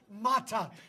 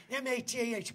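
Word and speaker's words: matah: It's pronounced mata. M-A-T-A-H, mata.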